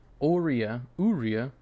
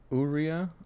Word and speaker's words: Aurea: Aurea. It's like the cookie Oreo, like Oreo. Aurea. Urea. Aurea. Have you been watching Blue Lock? Not yet. Urine. Aurea.